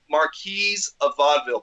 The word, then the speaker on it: Marquis of Vaudeville: do you say it we just say mark Marquis a vaudeville plural okay okay but